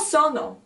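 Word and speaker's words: sonno: you pronounce the word make sure that you actually pronounce the double consonant the double n of this word because iOS Sono is I am L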